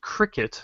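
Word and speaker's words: Krikit: um so uh if you just look up Cricket k r i kit you'll find me on there hold on slow slow that one down now it's pronounced cricet like the insect but spell it out again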